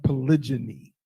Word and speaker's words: polygyny: I believe it's pronounced polygyny.